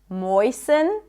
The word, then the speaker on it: moisten: Fasten, soften, moisten. It's not moisten, moisten. And also in the words ballet, right?